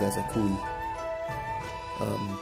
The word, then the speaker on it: ASAKUKI: A lot of people on YouTube, when they unbox this, they say ASAKUKI. It's funny, but it's ASAKUKI.